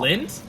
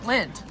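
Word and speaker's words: Lindt: Lint. Lind. Lint. That's how it's pronounced. Lint.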